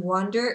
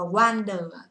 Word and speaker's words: wander: Âm này âm O, các bạn sẽ nói, hoặc là âm A dài trong tiếng Anh. O, want, đúng không? Wander. Đừng đọc là wander, các bạn thấy là cái miệng của chúng ta sẽ không mở ra như thế đâu ạ.